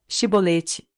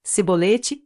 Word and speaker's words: chibolete: respondesse que não diziam Então diga chibolete se ele dissesse se bolete sem conseguir pronunciar corretamente a palavra prendiam me matavam no